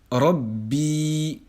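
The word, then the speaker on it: رَبِّي: Donc ici, lorsque nous allons prononcer ce mot, nous allons entendre Rabbi. Rabbi. On entend bien le ba soukoun au début, ensuite le ba kasra, et alhamdulillah, nous avons une prolongation en ya.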